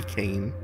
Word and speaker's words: Cain: Or Kine, I think they pronounce it. I'm pretty sure it's supposed to be Cain. Birdman.